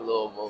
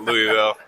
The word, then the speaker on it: Louisville: Um, love, you know, hearing hearing the sound of Louisville now that I know how to say it right. It's not Louisville.